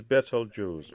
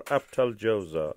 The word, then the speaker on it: Betelgeuse: The correct pronunciation is Betelgeuse or Abtaljosa, as in Arabic.